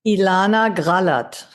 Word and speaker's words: Ilana Grallert: I don't I can't do it justice with the the proper German pronunciation. How do you How do you say it? Ilana Gralow.